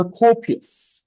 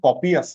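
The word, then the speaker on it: copious: আমাদের পরবর্তী শব্দ কোপিয়াস, কোপিয়াস, উচ্চারণটা কিন্তু কপিয়াস না, উচ্চারণ হচ্ছে কোপিয়াস।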